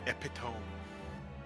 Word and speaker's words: epitome: Yeah, it's it's pronounced epitome.